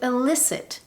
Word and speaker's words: elicit: These 2 words are homophones. What that means is they are words pronounced in the same way, but they have different meanings. To elicit with an E means to draw something out.